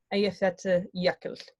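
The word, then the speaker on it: Eyjafjallajökull: So just Aya Fjatla, because remember they got double L, Jökull. Aya Fjatla Jökull.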